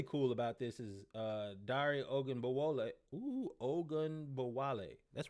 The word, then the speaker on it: Ogunbowale: And what's really cool about this is Dari Ogunbowale.